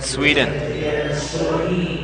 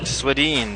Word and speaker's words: Swedeen: Enter Dan Sweden. Swedeen, it's pronounced.